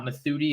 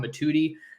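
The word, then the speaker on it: Mothudi: to him the other night that I wasn't pronouncing it right it's not mithuti it's Kamar matuti he's from Valley Village California at Campbell Hall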